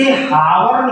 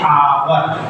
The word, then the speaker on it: hour: दोनों का प्रोनाउंसिएशन देखिए, इसे हावर न कह करके इसमें एच साइलेंट रहता है, इसे बोलते हैं आवर।